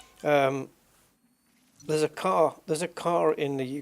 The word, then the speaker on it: Ka: car right it's called the Ford car and it's spelled k a and a lot of people pronounce it Ka I've got a my sister has a Ford KA and it's incorrect it's car right it's car because it's named after an Egyptian Prophet car